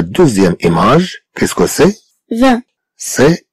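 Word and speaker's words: vingt: 20. C'est 20. Et donc, c'est 20. Alors, est-ce que le mot 20 comprend ou pas le son 1? Oui. Oui, il le comprend.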